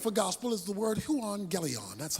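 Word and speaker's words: εὐαγγέλιον: the Greek word for gospel is the word Huang gelon that's how it's pronounced Huang gelion is simply translated good news so I got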